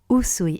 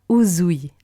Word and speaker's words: Usui: Usui et pas Uzui. Ça, c'est quelque chose que je retrouve souvent. Et le pense-bête, en fait, c'est de penser au sushi. Vous dites pas « je vais manger des sushis », même si c'est S-U. Et donc, c'est la même chose pour Usui Sensei, Usui. Donc, Usui.